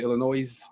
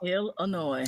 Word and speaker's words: Illinois: that how you say Illinois Illinois something like that Illinois better not pronounce that s they get mad I can't stand the